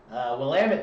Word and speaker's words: Willamette: planning to work in 2017 from Willamette Valley Willamette damn it that's how you say it Pinot